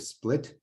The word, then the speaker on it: Split: So Yvonne graduated with his MD from the University of Split. Is that right, Yvonne? Is that how you pronounce it?